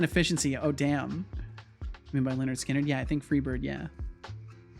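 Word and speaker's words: Lynyrd Skynyrd: also F this name if you want people to say Leonard skinnard spell it corre accordingly well it's it's you know Max you're just going to have to accept that some things aren't spelled phonetically you're just going to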